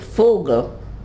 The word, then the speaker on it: Vogel: E, V, V is V. It's pronounced F. Like Vogel is a bird. It's written Vogel. Vogel. F. V.